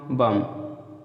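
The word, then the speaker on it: bomb: तो आगे देखते हैं, बी से पहले यम आए दोस्तों तब भी बी साइलेंट रहेगा। जैसे क्लाइम, ठीक है, बी से पहले यम आए या यम के बाद भी आए, बात है क्यों। तो जैसे क्लाइम पढ़ते हैं, क्लाइम नहीं पढ़ते, क्रम, टम, लैम, थम, बम।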